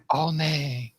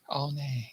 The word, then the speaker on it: Ao Nang: I always say that wrong. I think they pronounce it Ao Nang. Ao Nang.